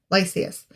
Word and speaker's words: Lysias: In the next year, Lysias, gathered... Wait, is that his name? Lysias? Did I say it right? Yeah, Lysias.